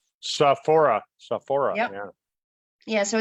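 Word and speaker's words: Sophora: How would you pronounce that? Sohora? Saphora.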